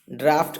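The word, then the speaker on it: draught: इसका जो पहला ऑप्शन है ऑलमोस्ट सिमिलर स्पेलिंग के साथ, लेकिन इसका प्रोनाउंसिएशन डिफरेंट है। इसका प्रोनाउंसिएशन तीसरे ऑप्शन के प्रोनाउंसिएशन से सिमिलर है। जैसे पहला और तीसरा दोनों को ही ड्राफ्ट कहते हैं। ड्राफ्ट प्रोनाउंस करेंगे, ड्राफ्ट।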